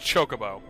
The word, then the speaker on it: chocobo: So it took me an embarrassing long amount of time to realize that it's pronounced chocobo.